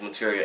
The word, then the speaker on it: Matirio: It's pronounced as Matirio, as like material.